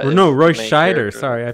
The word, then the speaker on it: Roy Scheider: oh it's a Royce Snyder Warner yeah yeah Roy Snyder you know Roy Scheider sorry I pronounced his name oh oh oh and there